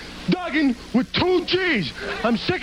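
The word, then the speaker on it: Duggan: guy a right now my name's Dugen not Dugan Dugen with two G's I'm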